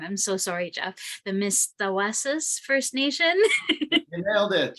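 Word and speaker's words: Mistawasis: We're in the, I'm gonna pronounce it wrong, I'm so sorry, Jeff, the Mistawasas First Nation.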